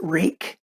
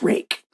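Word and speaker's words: Ruike: They pronounce it Rake. RakeKnives.ca is a company that I was buying them from, but you can also get them from White Mountain Knives. And they told me how to pronounce the name. So it's pronounced Rake.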